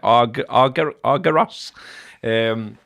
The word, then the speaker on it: Argyros: That's how you say it, Argyros.